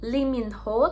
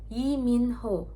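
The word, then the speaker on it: 이민호: Contohnya tuh kayak huruf li. Di bahasa Inggris li, di bahasa Korea itu tulisannya kayak gini doang. Jadi dibacanya i. Bukan Lee Min Ho, tapi Yi Min Ho.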